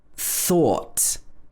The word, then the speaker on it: thought: so add the t and it becomes or thought so you may be wondering what is the rule for this ough pronunciation there is no rule you have to